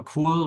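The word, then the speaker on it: Kuhl: theory was based on Professor Co which is spelled KU KL not the English cool um he is a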